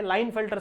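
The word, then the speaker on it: Klinefelter: अगला क्या है, लाइन फिल्टर सिंड्रोम बच्चों, इसको में के साइलेंट होता है तो लाइन फिल्टर सिंड्रोम ऐसा पढ़ते हैं इसको।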